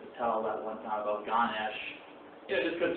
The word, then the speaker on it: Ganesha: Ganesh, the A is usually left silent, so you see it spelled Ganesha, but it's pronounced Ganesh.